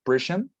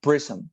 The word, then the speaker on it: prism: My only observation, very little one, would be that prism is the pronunciation, not prison, but prism, like with some prism.